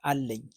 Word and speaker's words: አለኝ: Okay, I have is አለኝ, n sound. We don't have that in English, but it goes like አለኝ, I have.